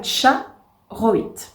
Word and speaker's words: Charoïte: présentation qui sera la cha roit alors normalement ça se prononce avec un t devant mais voilà je suis